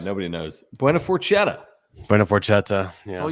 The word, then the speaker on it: Forchetta: I like Forchetta, not Forgetta.